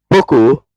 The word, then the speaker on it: Boko: Boko is Hausa pronunciation of book.